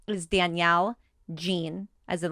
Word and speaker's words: Jean: Oh, Jean. And it's spelled the same way. It's Jean, not like G-E-N-E. you said, like jeans.